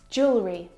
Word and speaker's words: jewelry: Jewelry. Jewelry. Again, we've got an extra vowel here that we don't need to pronounce.